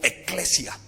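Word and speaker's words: ἐκκλησία: Santidad viene de un vocablo que hace alusión a separado, a pureza, pero viene de un vocablo que se puede pronunciar en griego como eclesia.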